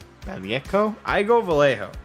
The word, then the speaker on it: Vallejo: According to Wikipedia, it seems it's meant to be pronounced Vallejo? Vallejo? I go Vallejo.